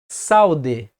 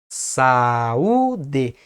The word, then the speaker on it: saúde: fica em uma sílaba se juntássemos o ar e um em uma só missão de voz ficaria saude saude e não é assim que nós pronunciamos o certo é saúde forma separada ou dar